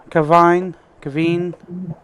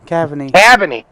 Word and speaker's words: Cavany: Cheswick, then Danny Story, Jason Cavine. We're not even going to get on that one. Cavany. Cavany. There we go. I pronounced it right finally.